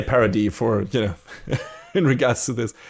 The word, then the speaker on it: Paradis: What is it, Paradis or Paradise? I think they pronounce it as Paradis, and in the subtitles it's Paradise, right? Yeah, I had just assumed that it was Paradis, even though spelled. It's Paradise without the E on the end.